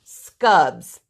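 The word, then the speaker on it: Skubb: have here so all right these are called scubs and I want to spell it for you it's an Swedish word SK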